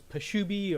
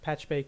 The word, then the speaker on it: Pachube: motivations and consequences of patchbay or some people have heard it not pronounced as peshubi or patchubi or pachube there were problems in the spelling that i've lived to regret but i'm not going